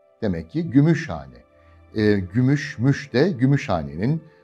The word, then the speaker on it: Gümüşhane: Gümüşhane. Birleşik bir isimdir değil mi? Birleşik yer ismidir. Size anlatmıştım. Vurgu nerede? İlk sözcüğün son hecesinde. Gümüşhane. Demek ki Gümüşhane.